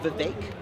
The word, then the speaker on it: Vivek: It's pronounced Vivek. Vivek. It rhymes with steak. That's the easiest way to pronounce it.